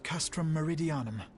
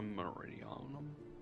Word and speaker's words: Castrum Meridianum: has something happened movement has been observed at castrum meridianum that's how you pronounce Castro Meridian thought it was Meridian during operation Aron the